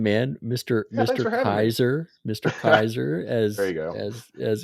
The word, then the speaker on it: Kayser: Kaiser as as it's pronounced.